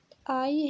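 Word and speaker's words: ail: اي هي الثومة كتكتب ا اي ال، ال ما كنطقوهاش يعني elle ne se prononce pas.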